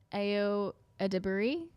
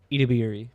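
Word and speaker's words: Edebiri: Uh, overall, what was uh I always say her name wrong and I feel so bad. Ao Adbury. What was it, Dylan? Ediri.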